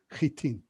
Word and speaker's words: Hattin: red and you see where the horns of hitin are it's called it's spelt hatin for some odd reason but it's actually pronounced chitin i talked about the crusaders at sipori and